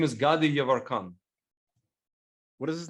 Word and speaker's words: Yevarkan: His name is Gadi Yavarkan. What is his name? Gadi, like Desta Gadi Yavarkan.